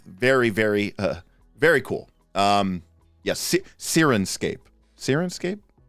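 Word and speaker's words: Syrinscape: Yes, Sirenscape. Sirenscape? Sirenscape is how you pronounce that.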